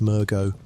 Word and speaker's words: Mergo: The infant Great One that Mensis sought to bring into the world is called Mergo, which you may say as Mergo.